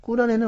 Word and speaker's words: 꾸란: 자, 오늘 금요일 이슬람 알아보는 시간 선교사 이정순 씨 모시고 저희들은 이제 코란이라고 발음을 했었는데 자, 꿀안 그리고 또 구약 성경과 그 차이점이 더 해석하는 방향이 다르다고 합니다.